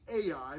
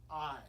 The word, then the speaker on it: Ai: arise go up to what looks to be AI but we actually pronounce it I it's the city of I now again some of